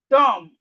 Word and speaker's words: dumb: So as we can see, whenever we see M and B in a word, the B is silent.